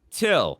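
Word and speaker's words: Thgil: Till spelled T H G I L. Breed, but it's pronounced till.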